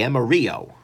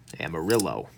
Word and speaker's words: Amarillo: and this is the Emery o Amarillo depending on how you want to pronounce it I'm being using t8